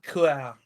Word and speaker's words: cœur: Hello, mon cœur. It's pronounced Kual.